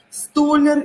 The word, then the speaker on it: столяр: Ударение пойдет на я.